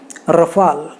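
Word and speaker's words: Rafale: कितने अलग अलग न्यूज़ एंकर्स इनको अलग अलग कहते हैं, कितने सारे इंडिया में, इवन ये राहुल गांधी रफाल रफाल कहता है, गलत है यार, इट शुड बी राफेल।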